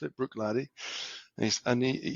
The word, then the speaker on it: Bruichladdich: So tell us a little bit about how you came to work at Bruichladdich in the first place.